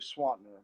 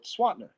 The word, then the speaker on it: Swanner: name and they said how do you pronounce it and I said well swatner they said SWAT SWAT